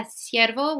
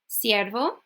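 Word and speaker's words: ciervo: which is a deer siervo okay okay the key to this is if you are doing the the don't overdo it or else it sounds like really fake it's it's light okay it's not like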